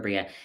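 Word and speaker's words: Breagh: Her last name is spelled B R E A G H. Kira Bria.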